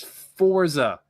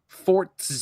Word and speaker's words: Forza: horizon Jesus okay it's it's Forza not 4th 'aa there's no there's no T in that word at all whether you're Italian or not it still spelled the same playset there's no T in Pizza what happened then